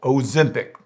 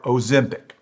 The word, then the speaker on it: Ozempic: I want to show you how that word is spelled ozymbic o z e m p i c i